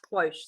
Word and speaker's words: cloche: Cloche. Okay, so Matthew's telling me it's pronounced cloche.